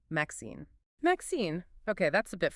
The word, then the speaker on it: MXene: It's actually a type of material called a Mixine, pronounced Maxine.